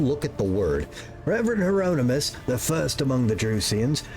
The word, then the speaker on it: Hieronymus: Don't look at the word, Beld. Hieronymus. You're saying it right. Don't look at the word. Reverend Hieronymus, the first among the Drusians, is most often...